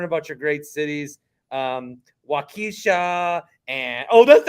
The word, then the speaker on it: Waukesha: wait to learn about your great cities um Waukesha and oh that's how you say it yes